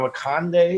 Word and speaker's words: Akande: I think we have Akande. Is that how you say it, Dave? You're always my pronouncer. Yeah, that sounds right.